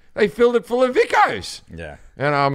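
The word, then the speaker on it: Vikos: brand that I drink when I'm in Greece, Vicos. It's spelled V-I-K-O-S.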